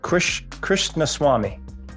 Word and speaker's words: Krishnaswamy: You just told me literally 30 seconds ago, and yet I still butchered it, screwed it up. I apologize. Krishnaswamy. Krishnaswamy.